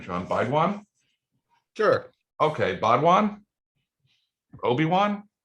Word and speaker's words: Baidwan: Oh, I don't even know how to pronounce your last name, Shan. Baidwan? Sure. Okay, Baidwan? Obi-Wan? It's Baidwan, but Baidwan, okay.